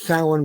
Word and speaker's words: Samhain: It's pronounced Samhain because the Irish spelling hasn't been updated recently. It has been several times in the past.